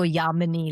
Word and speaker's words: Yamini: I always go Yamini, like harmony is my thing.